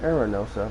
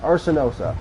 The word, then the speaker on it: Arsenosa: I pronounced that Arenosa. That is embarrassing. Arsenosa.